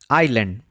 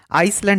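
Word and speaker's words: island: Next আসছে আইল্যান্ড। আইল্যান্ডের ক্ষেত্রে এস সাইলেন্ট থাকে। এই ওয়ার্ডটিকে অনেকে আইসল্যান্ড হিসেবে উচ্চারণ করেন।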